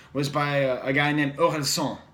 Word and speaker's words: Orelsan: The best album of last year, at least in terms of French hip-hop, was by a guy named Orelsan, O-R-E-L-S-A-N. Orelsan, if you're pronouncing it in English.